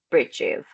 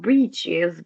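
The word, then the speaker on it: breeches: An example, instead of trousers, we say bridges, which is not bridgees.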